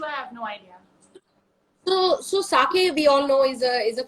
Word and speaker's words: sake: Sake and shochu, correct.